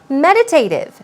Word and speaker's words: meditative: having enough of something meditative stress goes on the first syllable meditative meditative means reflective